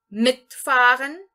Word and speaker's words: mitfahren: Ele também é um verbo separável, porque eu estou aqui entonando a primeira sílaba dele, ou seja, o prefixo, o próprio prefixo.